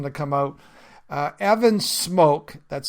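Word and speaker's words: Smoak: Uh Evan Smoke, that's spelled S M O A K, is a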